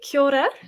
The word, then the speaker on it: kia ora: and the significance so kia ora it's sort of like a rolled r is how i describe the trick to pronouncing it um we generally use